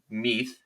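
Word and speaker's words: Mueth: shuni Chang raxton Ashcraft Xander meath is how uh we've been told it's pronounced and Lonnie White Jr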